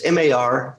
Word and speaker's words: Margaritis: They can Google Margaritis, and it's Margaritis. We pronounce it like a cocktail, but it's spelled like an inflammation, like margaritis.